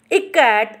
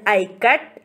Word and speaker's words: Ikat: is showing the pronunciation i as i in it in it how do